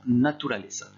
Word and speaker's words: naturaleza: Attention à la prononciation, naturaleza.